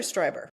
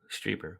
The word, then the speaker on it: Strieber: Is it Strieber or Stryber? Strieber. Whitley Strieber.